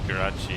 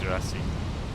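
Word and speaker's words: grazie: Why did I say Karachi? I think I should have said grassy.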